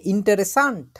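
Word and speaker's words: interessant: শিখছি তখন একজন বলছে ইন্টারেসান্ট ইন্টারেসান্ট ইন্টারেসান্ট ইন্টারেস্টিং ইংরেজিতে বলি না আমরা এটাকে ডয়েশে বলে ইন্টারেসান্ট ইন্টারেসান্ট উচ্চারণ করেন তো আপনারা ইন্টেরে এবং সান্ট একটু বড় ইন্টারেসান্ট ইন্টারেস্টিং খুবই চমৎকার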